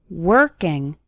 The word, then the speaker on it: working: working on your English the letter o in working has more of an ER sound working working on your English